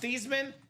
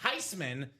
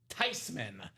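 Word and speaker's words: Theismann: It's not pronounced Theman. It's not Tyman or excuse me, it's not Thyman. It is in fact Tyman because it's a German name, Dom.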